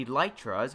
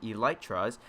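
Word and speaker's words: Elytra: also point out is the electras which is which would be the correct pronunciation for the set of wings that are placed here on my back the e light trust now when you hit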